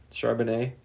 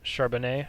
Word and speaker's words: Charbonnet: Charbonnet. I think his actual Yeah. sneaky good pick is the running back from Seattle, the rookie Charbonnet.